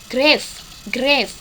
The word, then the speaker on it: grave: Tempo sangat lambat disebut grave tulisannya ya. Dibacanya grave.